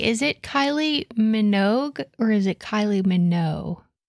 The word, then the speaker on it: Minogue: and I'm gonna see how it says Minogue it has a hard G it does but she's